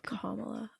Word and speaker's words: Kamala: Or just think of calm. Like Kamala.